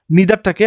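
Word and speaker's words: neither: আমরা কিরকম ব্যবহার করি নিদারটাকে আমরা দেখো কেউ কেউ নাইদার বলবে ভাবি যে কি উচ্চারণ করছি নিদার হয় নাইদার হয় যে যেটা বলে কমফর্টেবল নিদার হি নরশি প্রেজেন্ট প্রেজেন্টস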